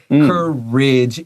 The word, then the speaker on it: courage: Courage 也没有被加长，这个 A 发刷 short I.